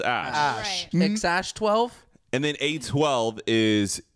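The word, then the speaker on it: Æ: forgot what a e um is pronounced it's pronounced ash 12.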